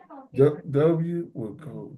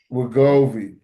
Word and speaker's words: Wegovy: W is Wigor Wigori WEGORY GOVY Wegovy WEGOVY Wegovy. Look it up, I think you just need to JJ. spell it because you struggle. WEGOV as in Victor Y. Wegovy.